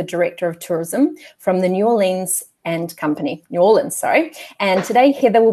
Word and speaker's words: New Orleans: Hello, and yes, you can say New Orleans and you can say New Orleans. It's acceptable both ways. And as a local, how do you pronounce it? New Orleans.